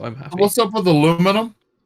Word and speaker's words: aluminium: So It's aluminum. just to bore you for a minute, because my physics teacher mate taught me this. There was an agreement that Americans would start pronouncing it aluminium, and the British would change the way we